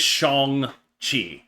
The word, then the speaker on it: Shang-Chi: So that like he'd be Sean, but like you add a G, and then like you can convince idiots like me to pronounce the name correctly.